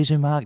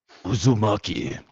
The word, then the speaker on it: Uzumaki: bloody elmate was bloody bloody spirals everywhere bloody uzak no it's uzaki you got to you got to say it like you got a you got a Japanese warrior Spirit residing inside you Uzumaki well mro check out is is Uzumaki inspired